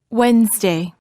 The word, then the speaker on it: Wednesday: Wednesday.